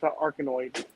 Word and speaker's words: Arkanoid: It's pronounced Arkanoid. Arkanoid, okay.